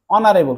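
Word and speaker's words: honorable: তোমার কিন্তু এ বসবে অনারেবল কি উচ্চারণ করছো অস থাকার অর্থ দেখো অ উচ্চারণ করো তাহলে এন অনারেবল তারপর দেখো ইউনিফর্ম দেখো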